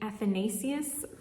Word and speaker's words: Athanasius: This is going to be my Advent read, and this is by Saint Athanasius. I know I'm mispronouncing that because I think I learned how